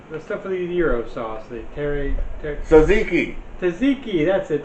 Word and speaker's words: tzatziki: stuff with the euro sauce the terry saziki taziki that's it tzatziki yeah i have some tzatziki i was going